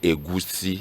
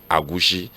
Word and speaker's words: egusi: But we can say egusi. Egusi. Some people can say agushi. Ah. No, but those that are not Igbo, but in Igbo language, it's a egusi.